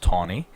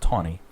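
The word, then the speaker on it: Taney: named Roger B ton his last name is pronounced tonnie his last name is spelled t a NE y tany but it's pronounced tonnie Roger B ton who's the Chief Justice of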